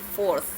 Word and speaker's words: fourth: Jadi kalau 4 ada 4 th, jadi fourth dibacanya. Ketiga 3 kita bilangnya third.